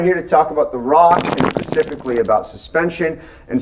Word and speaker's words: Roch: the Diamond Rock okay it's called Roch that's pronounced Rock and we'll give you a little background on